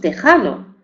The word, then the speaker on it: texano: O los derivados de estos topónimos, por ejemplo, mexicano, mexicano, decimos, oaxaqueño, oaxaqueño, o texano, que decimos tejano. Se escriben con X, pero la pronunciamos con J, ¿de acuerdo?